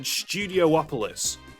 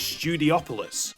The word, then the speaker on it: Studiopolis: I've always said Studiopolis, but it turns out it's Studiopolis, which makes sense but just kind of feels wrong.